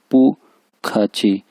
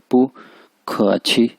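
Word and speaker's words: 不客气: इसको आप सिंपल यानी ऐसे ही पढ़ सकते हैं पू खाची या पू खाची, पू खाची, पू खाची।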